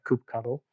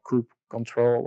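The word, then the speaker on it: kubectl: that you would prefer the terminal client which is coop cuddle or coop control or well it's about coop CTL this good cuddle is the pronunciation that I use so I very much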